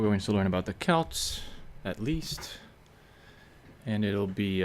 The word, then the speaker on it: Celts: So, it says here the Kelts, and it says that it's pronounced the way I'm pronouncing, not Selt, or Celtic peoples, again